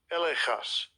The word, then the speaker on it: elegchos: Elechas. Elechas. So elechas. Elechas means here's literally spelled as or pronounced as, it's elechas, but it's seen as elegchos, in terms of if you wanted to spell it out, ELEGCHOS.